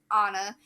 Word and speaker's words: Anna: You'll meet childhood Anna, pronounced Anna, rhymes with Donna, even though everyone gets it wrong and I never correct them.